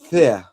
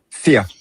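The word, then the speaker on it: vier: Fear. Fear. Fear. Yeah. Because V is quite often pronounced as an F if it starts a word.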